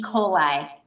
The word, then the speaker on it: Coli: It is spelled like E. coli, but it's pronounced Coli. People get that wrong a lot.